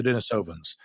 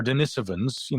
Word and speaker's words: Denisovans: Prior to the discovery of the Denisovans, or Denisovans, as they might say in Europe. Again, I've heard both pronunciations.